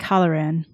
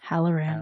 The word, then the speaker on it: Hallorann: Cynder: Dick Hollowrann. CZ: Hallorann. Cynder: Hallorann. Dick Hollowrann. Cynder: Hellorann. CZ: Hal-oh-ran.